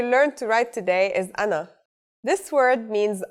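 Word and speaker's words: أنا: You may have noticed that the alif at the beginning has a little mark on the top. When al if is at the beginning of the word, we add the mark to it, but it's still the al if sound.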